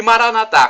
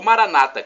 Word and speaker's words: Maranata: E Maranatá, como dizemos nós católicos, ou Maranata, como dizem nossos irmãos separados, os evangélicos ou protestantes. Não importa a pronúncia, somos todos irmãos e cristãos.